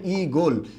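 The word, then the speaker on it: ঈগল: এখানে দীর্ঘই আছে, এরপরে আপনি একটু খেয়াল করবেন আমরা এটার উচ্চারণটা কি হবে? ই গোল। কথা হচ্ছে এখানে একটা হসন্ত হবে, হসন্ত।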